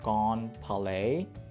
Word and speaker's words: Grand Palais: You know me, I love Palace in SimCity Buildit, and then this one is Grand Palace, or in French, I think it's pronounced Grand Palais.